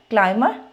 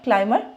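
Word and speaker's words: climber: में आ गया तो एक्सेप्ट थ्री वर्ड्स जो हैं उनके अलावा हमने सब में एम और बी को प्रोनाउंस करना है और वो थ्री वर्ड्स कौन से हैं प्लमर क्लाइम बमर ठीक है पीसीबी आप इसको ऐसे ही याद रख लो प्लमर क्लाइंबर बमर तो अब हमारी क्लास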